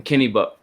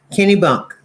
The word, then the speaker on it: Kennebunk: Um, as she's doing big things up there in Kenny Buck, correct? Kenny Bunk. Kenny Bunk, okay.